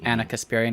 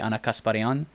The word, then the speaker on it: Ana Kasparian: armenian just in general so like anna kasparian would be ana kasparian um okay as an